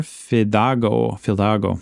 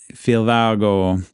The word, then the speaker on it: Fidalgo: In 1790, Fidalgo, am I pronouncing that right? I have a couple different spellings in my notes. Fidalgo. I think that's it, Fidalgo. Fidalgo arrived in Alaska, and he explored around the areas of Cordova.